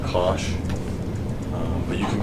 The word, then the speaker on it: cosh: Sometimes this is just pronounced sinh, and hyperbolic cosine is pronounced cosh.